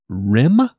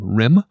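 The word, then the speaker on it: Rihm: Rim, I believe is how you would pronounce his last name. It's R-I-H-M, Rim, of the New York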